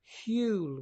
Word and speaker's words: Huel: is a product called Huell which you know rhymes with fuel spelt h u e L which is a food